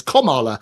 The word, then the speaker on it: Kamala: that's what it is it's like the punctuation she's stopped Joe Biden and she's taken over so it's Kamala um and apparently what